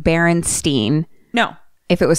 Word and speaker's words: Berenstain: Which there's no world where I was ever saying Berenstain.